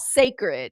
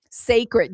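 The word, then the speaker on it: Cécred: It's called sacred. It's spelled C E C R E D. You know how she likes to play with um accent marks? Sacred. Yes. Except it's it's spelled C E C C R E D.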